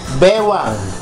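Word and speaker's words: baywang: It's pronounced Bewang. Bewang.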